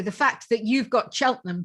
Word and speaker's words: Cheltenham: i going to say it right she's in cheltenham correct which is gloucestershire gloucestershire correct wow well